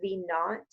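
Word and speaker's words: v₀: i for initial or v zero which is pronounced v naught and that's just saying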